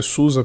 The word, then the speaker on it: SUSE: é um Drake slackware suse a pronúncia Susa que alemã seja distribuição o kurumin